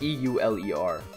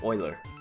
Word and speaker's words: Euler: the spoiler guy its EUL er its euler and it's not pronounced Euler it's Euler it's pronounced spoiler its e you le